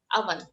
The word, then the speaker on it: oven: It's written O, but we pronounce it as a. Oven.